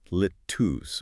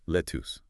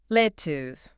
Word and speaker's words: lettuce: The stress is clearly on the first syllable and the second vowel sound is a very short almost ooh sound like us.